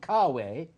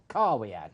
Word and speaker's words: caveat: like other things the lawyers would say jonathan caveat indeed very good which means beware buyer anybody wanting translation empty is the buy and car way actually should be pronounced are we at no time i've never met a lawyer who's